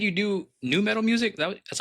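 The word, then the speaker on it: nu metal: So please go check it out, especially if you love new metal.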